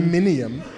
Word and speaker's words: aluminium: I said it fancy. It's the British pronunciation, man. Aluminium.